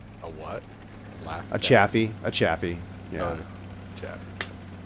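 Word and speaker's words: Chaffee: Chaffy. Rhymes with Laffy.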